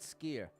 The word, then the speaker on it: Skyr: I like Skyr. No, how do you say it? Skier.